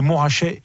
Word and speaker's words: Montrachet: bien aller avec ça commence comme on ne prononce pas le thé en bourgogne en idées montrachet et pas des montres h et bien c'est